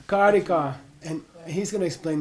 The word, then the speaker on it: Karika: Karika. Long A. Karika. Okay? Karika.